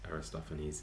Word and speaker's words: Aristophanes: So I did check with a Czech at work, and they would have actually pronounced it Aristophanes or Aristophanes. So I wasn't a million miles out, but yeah, we do say Aristophanes in English.